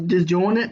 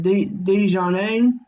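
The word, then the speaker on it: Dejournette: I thought it was Disjointed, but they pronounce it Dejournay.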